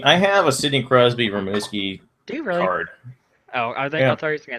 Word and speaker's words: Rimouski: well so anyway early we were saying the name wrong its rim you ski rimouski rimouski a screamo ski yeah